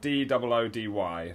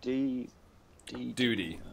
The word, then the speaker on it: Doody: But it's spelled D-O-O-D-Y, not D-U-T-Y. Doody.